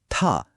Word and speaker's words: 他: প্রথমটা হলো থা। এর মানে হল সে বা তিনি। এটা ছেলেদের ক্ষেত্রে ব্যবহার হয়। এখন মজার বিষয়টা হলো মেয়েদের ক্ষেত্রেও সে বা তিনি বোঝাতে উচ্চারণটা কিন্তু একই। কিন্তু লেখার সময় অক্ষরটা দেখুন একদম আলাদা। থা ইন্টারেস্টিং তাই না?